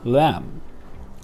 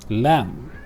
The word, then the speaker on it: lamb: word we pronounce it lamb lamb we know that we do not pronounce the last letter b okay so with ipa